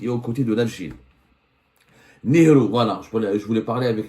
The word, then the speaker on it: Nehru: Nehru plus exactement, on se prononce, l'Algérie doit être libre.